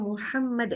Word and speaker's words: Muhammad: jadi Muhammad dari awal kita bacanya Muhammad di depan anak-anak Alhamdulillah pakai hak bukan pakai h ya Jadi kalau mengajarkan